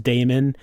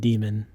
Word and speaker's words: daemon: Like, she's pronouncing it the way I was, Damon. He's pronouncing it demon.